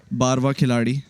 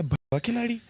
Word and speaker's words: बारवा खिलाड़ी: Khakan, who was with me on the sets of बारवा खिलाड़ी, जिसको बहुत सारे लोग मिसप्रोनाउंस कर रहे हैं. बारवा खिलाड़ी. मैंने पहली दफा जब स्क्रिप्ट मुझे भेजी उन्होंने, मैंने कहा ये क्या बाबा खिलाड़ी, मुझे लगा शायद.